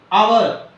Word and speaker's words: hour: Hour. Again, the silent letter is H. H-O-U-R.